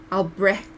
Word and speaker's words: Albrecht: as bad as others it's supposed to be like albert albrecht it's like a albrecht albrecht like that yeah i think i did it albrecht but i just use